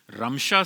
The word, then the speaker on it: Ramsha: एम एस एच ए रिमशा ये गलत नाम है। इसका कोई माना लुगत में या इसका इस लफज़ का कोई इस्तेमाल हमें लुगत में नहीं मिल सका। तो रिमशा की प्रोनाउंसिएशन दुरुस्त नहीं है क्योंकि इसका कोई माना नहीं है और रमशा यह नाम दुरुस्त है।